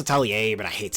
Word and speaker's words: Atelier: It's pronounced Atelier, but I hate saying it.